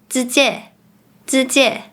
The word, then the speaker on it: 直接: For instance, “時間 time” becomes “si2 zan1” Pronouncing “直接 directly; straightforward” as “zi4 zie4” The last point about pronunciation is that some words are pronounced differently in Malaysian Mandarin.